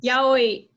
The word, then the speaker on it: yaoi: Yaoi? How do you say that? Yaoi.